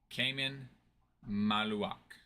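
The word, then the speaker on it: Khaman Maluach: No, Maluak's name is pronounced Cayman Maluak.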